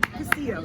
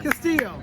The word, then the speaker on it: Castillo: Castillo. Yes. Castillo.